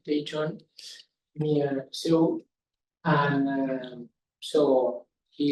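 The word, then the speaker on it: Daejeon: He comes from the Korean Astrophysics Science Institute in Daejon, it's pronounced Daejon, near Seoul.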